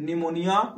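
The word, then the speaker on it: pneumonia: प्लू निमोनिया like organist इसमें निमोनिया की जो स्पेलिंग होती है पी से ही स्टार्ट होती है जैसे नॉलेज में के होता है साइकोलॉजी में पी होता है इसी तरह निमोनिया में भी क्या होता है पी से ही यह स्टार्ट होता है य पी साइलेंट तो इसलिए कंफ्यूज नहीं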